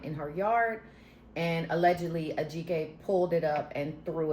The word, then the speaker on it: Ajike: I don't want to mess up her first name, but it's like Ajike. I think that's the proper pronunciation. But when she said it on the thing, it sounded like she said Ojiki, but whatever.